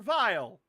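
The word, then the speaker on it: Weil: working on this thing, his name is Dr. Vile. And don't think it's spelled with a V, it's spelled with a W.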